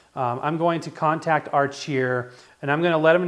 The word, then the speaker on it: Archeer: this I'm going to contact our cheer and I did verify that is how you say it I'm going to contact arch here and I'm gonna let